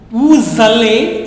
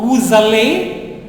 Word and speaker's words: vous allez: Il va, elle va, nous allons, vous allez, Z sound, okay? Nous allons, vous allez, ils vont, not vont, it is vont, ils vont, elles vont.